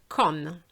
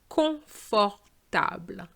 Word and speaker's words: confortable: Con. It's not con. Con is English. Okay, so we're going to have the sound on, which is on. Con. Confortable. Confortable.